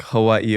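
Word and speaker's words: Hawaiʻi: know that it it it can be pronounced like a V like in German so that's why it's like Hawaii or Hai yeah why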